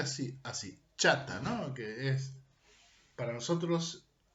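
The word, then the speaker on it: חטא: Hay un término que se pronuncia así, chata, ¿no?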